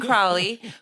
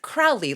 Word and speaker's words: Crowley: one one stud muffin named Norman Cwley who has No, now I'm saying it wrong. Patty said it's Crowley. It's Crowley like the Americans would say.